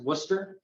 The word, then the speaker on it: Worcester: Daniel I have to correct you um it's pronounced Worcester Polytechnic Institute and if you're really from New